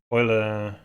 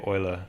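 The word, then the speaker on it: Euler: saying just use um Oiler angles right I'm not sure how you pronounce I've heard people say Oiler but yeah do you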